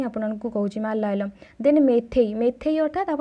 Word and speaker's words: Meitei: letter तारी अनुसार ही आपको कहूँ मलयालम देन मेथई मेथई अर्थात आप प्रोनाउंसिएशन भी अलग कहींपारे कि MEITEI हूँ तार